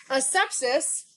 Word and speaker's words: asepsis: Asepsis is spelled A-S-E, hold on, I got to write it out, A-S-E-P-S-I-S. This is a medical term, okay? How it's broken apart is as such. A, sep, is.